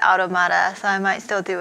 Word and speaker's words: Automata: Hi everyone, welcome to part 2 of NieR Automata. I learned that's the proper pronunciation for the game, but I like to call it Automata, so I might still do it sometimes.